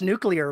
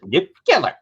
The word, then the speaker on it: nuclear: It has 3 syllables and I can't do it. I just cannot do it. You have to be from Midland, Odessa, or someplace out in that fucking hellhole to be that dumb to pronounce it. Nuclear. There's no fucking second U.